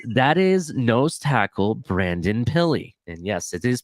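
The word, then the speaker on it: Pili: right that is that is nose tackle Brandon pilly and yes it is pronounced pilly I confirmed Vic fangio made it clear last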